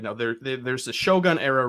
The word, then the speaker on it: Shōgun: Like, the proper way to say Shogun apparently is Shōgun.